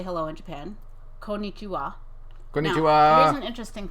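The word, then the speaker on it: こんにちは: I learned that Japanese has no emphasis on any syllable more than any other syllable. Ever? Or just in this word? No, I think ever. Wow. You speak everything at the same level of... Because in English, the emphasis is so much tied to meaning. Yes. Wow. Okay. So it's not konnichiwa, which is how a lot of Americans say it. It's konnichiwa. It's konnichiwa. Yeah.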